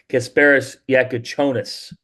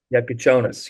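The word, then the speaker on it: Kasparas Jakučionis: I got some pronunciations updated now, and it's Kasparis Yakuchonis. Yeah, It's a but Jonas. Yakuchonis, yes.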